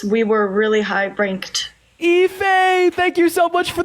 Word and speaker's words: Ife: That is IFE, pronounced Ife.